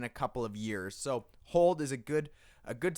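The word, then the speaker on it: HODL: it so number one hold except it's spelled differently h.o.t l holding on to a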